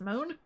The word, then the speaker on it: Mont: Lua or O and end in a silent t such as Mont oh really Mont is pronounced moan or pronounced John yeah